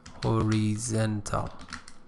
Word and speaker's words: horizontal: vertical and let me this is Horizon and the adjective form is horizontal so pronunciation changes horizontal and for vertical vertical